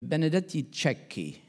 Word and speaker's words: Benedetti Cecchi: Benedetti Cecchi, that's how you pronounce it, by the way, was calling adaptive management.